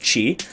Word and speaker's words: Qi: lot of people call it Qi charging or key or key charging it's actually pronounced Qi CH I or CH EE however you want